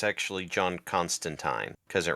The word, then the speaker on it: Constantine: point out it's actually John Constantine because it Rhymes constan it rhymes with turpentine oh okay he gets